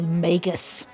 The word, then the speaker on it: Magus: Truth be told, until I heard Day Malin from Baldur's Gate 3 say it, I said Magus with a soft G because magic, but she says Magus, and I'm inclined to believe her.